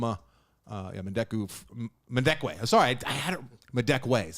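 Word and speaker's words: Madekwe: uh story David Harbor Orlando Bloom and Archie madeku madeku I hope I'm saying that right you might know Archie madeku from uh mendekwe sorry I had my deck way is how you say his name Archie madeka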